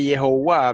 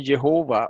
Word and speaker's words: Jehová: Sigue diciendo, la pronunciación indicada por Jehová o Jehová, pronunciando la J como una Y, ¿verdad?